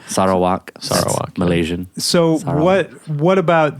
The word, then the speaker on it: Sarawak: right yeah yes sir Allah some people say sorrow wack let you sometime say is it okay sir a lot more than American we're saying it right sorrow walk Malaysian so what what about this time in